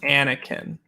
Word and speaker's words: Anakin: to i hate to correct you but it's anakin i don't want to correct but like we